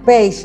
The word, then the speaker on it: Pagé: Y era realmente Pagé. Claro, la pronunciación es Page, ¿no?